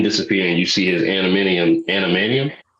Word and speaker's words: adamantium: see his skin disappear and you see his animanium. How do you say that shit? Adamantium.